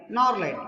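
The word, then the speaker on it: gnarled: ಇಲ್ಲಿ G is silent. Norlight.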